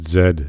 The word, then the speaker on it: Z: letter from canada going you must pronounce it zed it's like we don't unless you're like nobody cares yeah um we say zed in britain as well yeah and and all